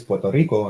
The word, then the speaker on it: Puerto Rico: I'll say it like I don't say like Puerto Rico right it's Puerto Rico and then they're like